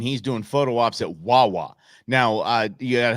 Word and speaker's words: Wawa: doing photo ops at Wawa now uh you got to help us out Rob because a Southwestern cats uh Wawa rhymes with baa I don't know what